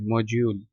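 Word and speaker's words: module: अच्छा ये प्रोनाउंस करते वक्त यहां पर डी की जगह मैंने जे का लफज़ इस्तेमाल किया। मॉड्यूल ठीक है? प्रोनाउंस करते वक्त ऐसे इसको पढ़ना है।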